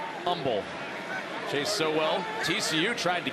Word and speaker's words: Humble: No H. H is silent. Humble.